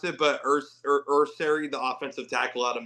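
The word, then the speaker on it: Aireontae Ersery: I mean, you did went out you you drafted uh I don't know how to pronounce it, but Urs Urseri, the offensive tackle out of Minnesota. Yeah. Arante Ursery.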